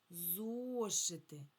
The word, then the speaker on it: зошити: Зошити. Зошити. На який склад падає наголос? На перший.